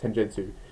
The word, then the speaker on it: Tenjutsu: It's not Tenjutsu. That's how it's pronounced. Tenjutsu. What the heck does that mean?